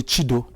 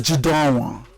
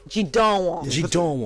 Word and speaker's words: Jideonwo: time I was on TV, my name was mispronounced, so he called me Chido. So you cannot do worse than that. So I think I was closer to the kingdom. Let's have it. So it's Jideonwo. Jideonwo.